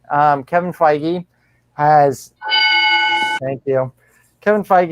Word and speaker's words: Feige: there's new head of the mountain um kevin feige brian i said it right um kevin feige has thank you kevin feige has made it